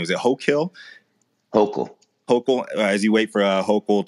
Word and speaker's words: Hochul: forward as you guys wait how do you pronounce her name? Is it Hochul? Hochul.